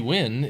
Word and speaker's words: Nguyen: weird I haven't played that one uh Nancy Nguyen is on uh YouTube um or I pronounce it when sorry if I'm pronouncing it my friend growing